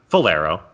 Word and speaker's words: Falero: Falero, right? That's pronounced correctly.